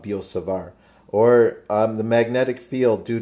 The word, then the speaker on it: Biot-Savart: the law of biot-savart I don't think you pronounce the T actually it's the law of biot-savart or the magnetic field